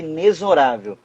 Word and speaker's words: inexorável: Outra pronúncia equivocada, quando alguém diz assim, inexorável. Não, a pronúncia é inexorável. Mas é aquela live, todo mundo... Juro pra você, é inexorável. O X tem som de Z.